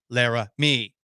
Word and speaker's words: Laremy: I say this in the same way Skip Bayless would say it, but it's unfortunate that the last syllable in Laremy's first name is me, Lara, me.